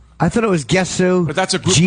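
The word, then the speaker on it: Gesù: I'm the one that told Jimmy that the way to pronounce Jésus Theater is Jésus, because you thought it was Gesu. I thought it was Gesu, But that's a group from Jisoo.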